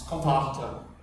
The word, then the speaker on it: Vater: V sounds like an F. Yeah. It's Vater. Yeah. And It's V-A-T-E-R, I think.